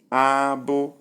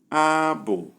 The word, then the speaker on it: abo: Number 1, we have high, high, and the sound is abo. Pause. Abo. Number 2, we have high, low, and the word is abo.